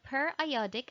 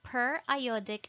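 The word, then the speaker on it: periodic acid–Schiff: the pas or the per iodic acid shift and i would like to emphasize on the pronunciation it's per iodic and not periodic because this contains iodine and the pas is used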